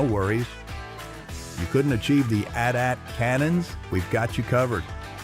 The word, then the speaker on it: AT-AT: I was calling them AT-ATs from the beginning because I didn't know there was another way of calling them, and it's 2 syllables versus 4, and I'm all about energy conservation.